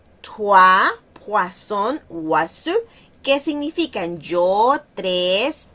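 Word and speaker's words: toi: Okay, podemos llegar, está también la otra palabra que es tua. Podemos llegar a decir toy en vez de en vez de tua, ¿okay?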